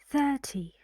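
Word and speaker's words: thirty: How do you say this one? Right. 30. Where's the stress? 30. 30. On the first syllable.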